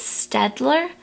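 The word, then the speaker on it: Staedtler: I believe it's Stadler. It's spelled s t a ee d t l e r.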